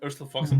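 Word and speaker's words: Urstul Floxin: Does the name Erstil Flox? Am I pronouncing it right? Erstil Floxen.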